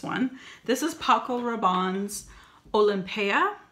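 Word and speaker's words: Olympéa: This is Paco Rabanne's Olympia. And I say Olympia because of how it's spelled. It's got that accent grave over the E.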